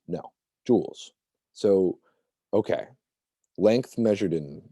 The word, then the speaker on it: joules: measure heat in joules this is pronounced joules so try saying that to yourself just like a necklace this is pronounced joules so if you come to this in class be like uh joel's no joules so okay